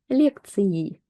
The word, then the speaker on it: лекции: We're just going to be pronouncing it as e, лекции, лекции.